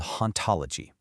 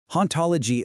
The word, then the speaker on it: hauntology: is a concept called hauntology. The philosopher Jacques Derrida coined the term back in 1993, and it's actually a pretty clever pun. See, in French, the silent H makes it sound exactly like ontology, which is the philosophical study of being.